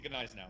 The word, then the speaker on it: Gneisenau: yes, the Gneisenau.